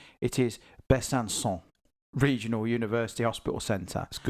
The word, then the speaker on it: Besançon: Um and I don't want everyone to get over over excited by the pronunciation. It is Besançon.